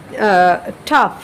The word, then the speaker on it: tough: দেখো এই যে TOUGH, BOUGH, অর্থাৎ শেষের OUGH কিন্তু প্রত্যেকটারই আছে, কিন্তু আমরা যখন উচ্চারণ করতে যাচ্ছি কখনো যেমন হচ্ছে প্রথমটা বলছি টাফ, হ্যাঁ এরকম টাফ।